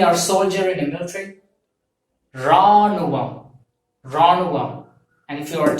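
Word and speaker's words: ராணுவம்: So this army and soldier represents Ranuvam, R-A-A-N-U-V-A-M, Ranuvam. So this Ranuvam represents army and soldier in Tamil. So you have to pronounce this as Ranuvam, R-A-A-N-U-V-A-M, Ranuvam.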